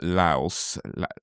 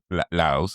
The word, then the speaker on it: Laios: You're messing the eye up. It's La La Lios. Lios. Lios. Lios. Um, we I saw another interesting. Well, I saw a interested theory on on Lios Lios Lios.